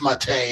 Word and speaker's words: MATE: thank you Bob and it's spelled like it would read meate but it's mate it's French yeah it's you got